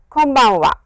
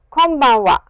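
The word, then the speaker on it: こんばんは: of course n but the way it is pronounced is press your lips like this close your lips and it is an M sound so please come bonne voie konbanwa konbanwa so please remember that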